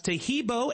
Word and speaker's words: Taheebo: Taheebo is spelled T like Tom, A-H-E-E-B like boy. Oh, that's Taheebo, and then continue with the word tea, and then the word club.